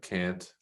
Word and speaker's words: Kant: me of i think it was kant or kant however people pronounce it i pronounce it can't he sort of introduced